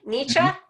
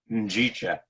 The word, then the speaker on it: Njicha: It's a Swahili word. She can't pronounce it. It's Nietzsche. Nice try. Nice try. Njicha. Njicha.